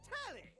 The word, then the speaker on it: Telly: The name's Telly. Rhymes with Nelly.